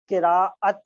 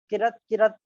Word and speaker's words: قراءت: کو بتا دوں کہ یاد رکھیں صحیح تلفظ جو ہے قراءت ہے، کرت بعض لوگ بولتے ہیں یہ صحیح تلفظ نہیں ہے، اس کے معنی غلط